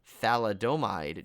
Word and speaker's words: thalidomide: the late 1950s, as women who had taken thalidomide during pregnancy.